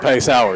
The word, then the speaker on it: Paysor: Juwan, you and me, everybody in Cherrill is Sour. Pay Sour, yes, Yeah, sir. Spelled the same exact way.